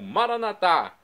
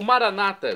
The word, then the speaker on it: Maranatá: E agora do aramaico, dialeto de Jesus, eu clamo Maranatá, como dizemos nós católicos, ou Maranata, como dizem nossos irmãos separados, os evangélicos ou protestantes. Não importa a pronúncia, significa vinde, Senhor